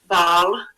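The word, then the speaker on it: Bâle: It's in Basel, and in French it's called Baal.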